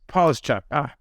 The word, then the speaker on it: Polishchuk: Polishchuk, close. Polishchuk.